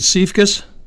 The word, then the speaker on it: Siefkas: traumas I should have really gotten the pronunciation of your name first I know it's is it safe kiss correct I got it look so were